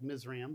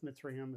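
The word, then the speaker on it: Mizraim: Some translations just put Egypt in there, but uh others put Mitsum. That's how that's pronounced. Looks like Misreum, but Mitriam is how they typically pronounce that at least in the Hebrew tongue.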